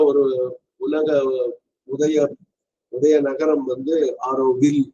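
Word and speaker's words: Auroville: அதே மாதிரி நமக்கெல்லாம் தெரிஞ்ச மிகச்சிறந்த ஒரு உலக உதய நகரம் வந்து ஆரோவில். அதுல வந்து எல்லு உச்சரிக்கணும். அது ஈல முடியும். சில பேர் விஷயம் தெரியாம ஆரோவில்லின்னு அதை வில்லி ஆக்கிடுவாங்க. அந்த ஈ இருக்கிறதுனால தெரியாம உச்சரிப்பு தெரியாம.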